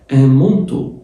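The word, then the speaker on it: manteau: السديري او البلوفر الك مونتو مونتو الا ان بتتنطق او تبقى مو والاي والاي واليو بيتنطق او تبقى ان مونتو ان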